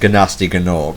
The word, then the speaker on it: Gnasty Gnorc: Oh, Nasty Nog. Yeah. who by all rights should be pronounced Gnasty Gnorc. I think some people actually do pronounce him Gnasty Gnorc.